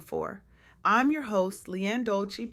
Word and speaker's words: Dolce: I'm your host, Leanne Dolci, pronounced dolce, like sweet softness whispered in French.